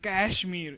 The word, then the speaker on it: Kashmir: you can't even you can't even pronounce the name right. Kashmir. It's not about the cloth. It's a place and it's called Kashmir.